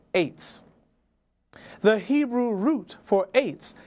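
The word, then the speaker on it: עץ: from right to left, ayin to sadi sofit, pronounced eitz.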